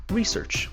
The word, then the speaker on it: research: due to her accent in American English the last word is pronounced research with the stress in the front it should not concern